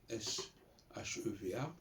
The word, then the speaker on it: sheva: Entre le sheva hébreu, S-H-E-V-A, et le E muet, le E français. D'autant plus que le sheva se prononce comme un E en fait.